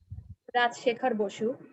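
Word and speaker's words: Rajshekhar Basu: That was a Bengali translation and a summarized translation written by Rajshekhar Bosu. What's the author's name again? Rajshekhar Bosu. The Bengali name, actually, I'm pronouncing in Bengali.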